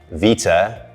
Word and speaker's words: Vita: two is two words Vita as in like a pro Vita biscuit or means life and